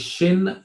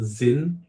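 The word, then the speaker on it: Xin: So is Shin the canonical pronunciation not Zin like he says? Yes. Chinese name. So and Chinese pronounces their X a certain way. I don't know why you're pronouncing it with a zed, but but who knows.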